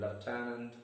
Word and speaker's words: lieutenant: on the last syllable and in lieutenant on the second syllable.